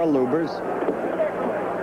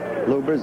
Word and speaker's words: Lubbers: Or Lubers. It's pronounced both ways. Lubbers is probably more technically correct. Anyway, it's the way Rudi wants it said.